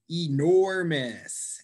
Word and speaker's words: enormous: Enormous. Enormous. How about Jawida? Enormous. Which syllable got stressed? The second syllable.